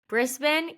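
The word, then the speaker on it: Brisbane: that's good well Josh you are originally from brisban Queensland Australia did I pronounce that right there you go you you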